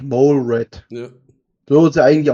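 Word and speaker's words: Molerat: TTS macht auch noch molerrad daraus aber eigentlich der eigentliche Wortlaut ist ja eigentlich mol red ja so ja eigentlich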